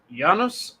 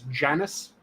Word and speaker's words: Janus: Janus, who was the original, and I'm using the more correct Latinate pronunciation. You might be familiar with it as Janus.